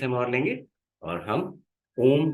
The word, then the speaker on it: ओम: चलिए, यहाँ से 30 सेकेंड्स हम और लेंगे और हम ओम का उच्चारण करेंगे। ओम के उच्चारण में अ, उ और म, तीन तरह की ध्वनियां उत्पन्न होती हैं।